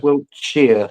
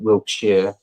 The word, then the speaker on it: Wiltshire: It's Wiltshire. It is Shire. That's it. It is spelt as that, but it's, yeah, we pronounce it Wiltshire.